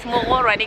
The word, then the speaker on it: Morgorwane: Morgorwane. Yes, it's Morgorwane, guys. Okay. Yeah, be careful. Yeah, here now. So I find it difficult to pronounce the name of this village, but we are in Vigeto, okay?